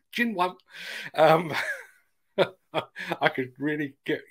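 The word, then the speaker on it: Xinyuan: brand is not actually it's x-i-n-y-u-a-n and they go out my local chinese restaurant assures me it's pronounced gin one um i could really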